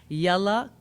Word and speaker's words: Yalla: And if you're tweeting, please use the hashtag Yalla Kareem, spelled Y-A-L-L-A, Kareem, spelled with a C, like Kareem.